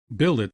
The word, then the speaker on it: billet: mind seen melom mankind Billet does not rhyme with ballet okay wallet Mallet Chalet